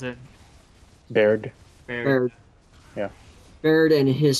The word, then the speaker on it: Baird: That's how you pronounce it. Baird.